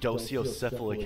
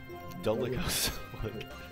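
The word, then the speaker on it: dolichocephalic: Oh, it's dolicocephalic. Okay. I thought it was docio. Dolicocephalic.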